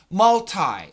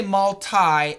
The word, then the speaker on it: multi: Multi. We can say multi, M-U-L-T-I, or multi, M-U-L-T-I. Same spelling. Pronunciation might be different.